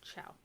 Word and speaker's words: ciao: said like a k c before I or E is pronounced like CH so like ciao it's a c i a so you would say ciao and then see the